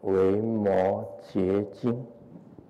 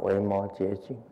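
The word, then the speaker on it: 维摩诘经: 读作绝啊。那我们以后就记得要念维摩诘经啊，维摩诘经。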